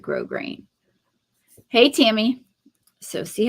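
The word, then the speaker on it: grosgrain: um it and I we really do pronounce it grow grain hey Tammy so see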